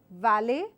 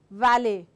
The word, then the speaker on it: valley: for this are so the first sound is your valy where I bite my lower lip and I give out the sound valy the second word is your wallet as if I'm about to whistle wallet wallet Valley wallet Valley so this is Valley and this is wallet so you have to